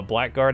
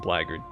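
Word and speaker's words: blackguard: it sounds cooler uh black guard and blagard another prime example i know it's pronounced blagard but i'm not going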